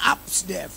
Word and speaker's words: Apsdef: ABC kan. Sit down buddy. Ya, Upsdev. Kan bacanya gitu. Upsdev. Kalau Rudi, Yono, Tono kan udah biasa ya. Ya, Narjo begitu kan biasa. Tapi kalau Upsdev itu different. Asli different banget. APSDEF.